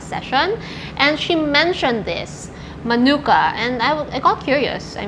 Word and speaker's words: Manuka: And they actually call this as Manuka, not Manuka. Manuka is like the American way to pronounce it.